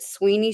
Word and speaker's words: Sweeney: The first thing is he was found at 3300 Sweeney Street, which is spelled Swiney, and they spelled it Swenney.